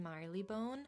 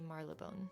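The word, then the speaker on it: Marylebone: a lovely day in Marley Bone. Marley Bone. I've heard people say it like that, but it's spelled Maril Bone, but I think you're supposed to say Marleone.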